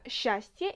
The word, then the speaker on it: счастье: Tu vois, dans le mot счастье, il y a beaucoup de consonnes, mais on ne les prononce pas toutes. Tu dis tout simplement счастье, счастье.